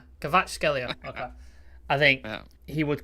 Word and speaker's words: Kvaratskhelia: If you could just pronounce his name, Shreyas. Wait, Kvaratskhelia. Kvaratskhelia.